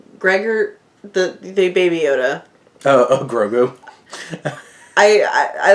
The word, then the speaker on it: Grogu: Grogu.